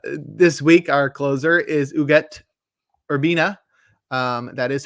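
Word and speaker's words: Ugueth Urbina: get there um this week our closer is uget urbina um that is how it's pronounced urbina had an 11year career from 1995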